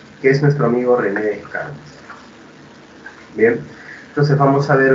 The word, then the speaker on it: Descartes: Cartesius, o también conocido en buen francés como René Descartes, o Descartes, si quieres darle la pronunciación adecuada, ¿no?